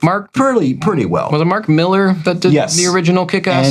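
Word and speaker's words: Mark Millar: And so I made the effort into looking it up, and yes, it's actually Mark Miller. That's how you pronounce it.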